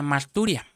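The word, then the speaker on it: μαρτυρία: Y aquí, hermano, hay algo muy interesante porque esta palabra testimonio viene de una palabra original griega que se pronuncia marturia.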